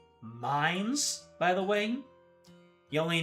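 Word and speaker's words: Mainz: It's pronounced minds, by the way.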